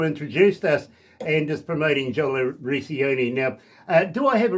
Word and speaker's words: Jola Recchioni: But it's Jola Recchioni.